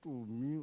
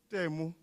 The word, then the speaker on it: Temu: I don't know if any of you have heard of something called, I think it's called Tumi or Tumi. Can somebody pronounce it for me? Pardon? Tumi, is it that online thingy? Temu.